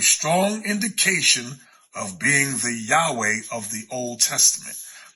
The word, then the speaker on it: Yahweh: indication of being the Yahweh of the Old Testament I was taught that pronunciation is yahuwah but we know is